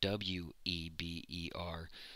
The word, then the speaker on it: Weber: see this written down Weber spelled w EB er but it's pronounced Weber because it's German so there's a V sound in there so if you've seen